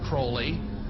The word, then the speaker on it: Crowley: be have his name pronounced Crowley to rhyme with holy and the satanists today